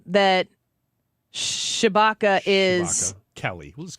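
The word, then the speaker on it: Tshibaka: So in the 49 Republicans in the Senate, there's not an E in that, and it's pronounced Chewbacca.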